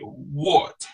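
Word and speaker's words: would: Actually, no, it is the same pronunciation like wood. W-O-U-L-D. And then W-O-U-L-D and W-O-O-D got the same pronunciation, wood and wood.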